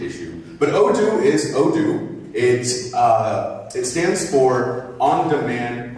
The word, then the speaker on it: Odoo: world you are there seems to be a pronunciation issue but oh it is oh do it it stands for on-demand open objects there